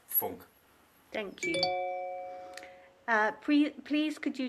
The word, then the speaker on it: Funck: But as I'm from Germany, it's pronounced not Funk, but Funk.